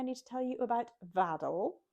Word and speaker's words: Vaddel: Okay, I think that is everything I need to tell you about Vaddel. Vaddel is a Shetland word for a kind of seed pool, rhymes with paddle.